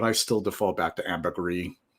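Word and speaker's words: ambergris: book on Amber gree according to the book floating gold it should be Amber gree but I still default back to Amber gree like G and French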